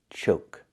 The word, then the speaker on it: choke: And this is choke, with a long O sound like Coke, choke.